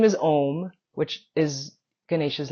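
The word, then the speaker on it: Ohm: West-East podcast perspective because the character's name is spelled O H M, but it's pronounced Om.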